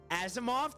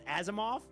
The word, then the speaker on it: Asimov: Azimoff. That's how you say it. Is that Azimov? It's Azimoff. Okay.